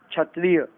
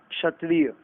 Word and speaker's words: क्षत्रिय: ये अलग अलग राज्यों की अलग अलग भाषाओं के अनुसार बोलने में, उच्चारण में, जिह्वा में फर्क होने के कारण ये गलतियां हो जाती हैं। क्षत्रिय नहीं, क्षत्रिय।